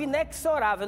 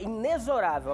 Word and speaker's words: inexorável: Ah porque eu tinha eu falava inexorável não é inexorável a pronúncia correta é o x com som de z inexorável in aqui no Brasil